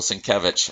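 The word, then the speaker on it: Sienkiewicz: know it doesn't look like that's how you pronounce it but apparently that's right bill syncovich a very unique comic book artist well that's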